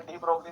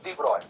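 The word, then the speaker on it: de Broglie: जैसे डी ब्रोगली में जी pronounce नहीं होता, इट इज डिब्रॉय, है ना? उसका नाम डिब्रॉय है, डी ब्रोगली नहीं है।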